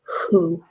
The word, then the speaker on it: who: have who for people which also begins with a W the spelling is similar but we don't pronounce it we say who okay so that is